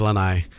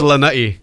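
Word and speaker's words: Lānaʻi: So most people say Lanaʻi. Okay. Yeah, and the only person who actually pronounces my name, my Lanaʻi correct, is Leslie Wilcox, who was with Channel 2, and BJ Penn's mom. Okay. Everyone else says Lanai. But it's Lanaʻi.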